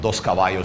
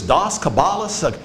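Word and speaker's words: Dos Caballos: Um, that usually means like one of my first brands was a cigar brand called Doskavayo Cigars. I can't tell you how many times somebody called because they they purchased from Dos Cabayo Cigars like is this Doss Cabala? You know what I mean? Like nobody could pronounce that.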